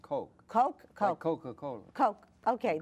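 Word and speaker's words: Koch: it's not I know it's not kotch which some people say and I don't want Ed cotch to be insulted so I pronounce it as far away Coke like cocacola the Coke brothers or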